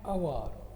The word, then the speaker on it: hour: An honest, an hour, A, it pronounced, though it begins with H, it pronounced like A, hour, an hour, etc.